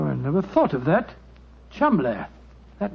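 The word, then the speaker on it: Cholmondeley: know that the name Cham is in no way pronounced the way it is spelled but Jo I never thought of that Cham that name spelled c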